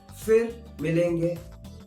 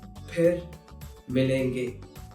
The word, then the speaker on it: फिर: So if you hear someone saying fir milenge, that is incorrect. The correct pronunciation is phir milenge. I know it might be tough, but if you're learning it, learn it right way. Phir milenge instead of fir milenge.